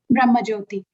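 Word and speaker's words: Brahmajyoti: the spiritual sky, the Brahma, how do you pronounce it? Brahma Jyoti.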